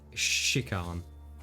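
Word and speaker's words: Shikhan: spell it sorry either it's like it's s-h-i-k-h-a-n and how do you is ch chick come yeah just like shikon okay okay joy i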